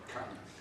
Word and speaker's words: Camiz: That is correct, Camiz.